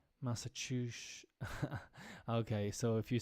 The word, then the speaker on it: Massachusetts: outside of New England that last s has the unfortunate tendency to turn into a sh sound Massachusetts okay so if you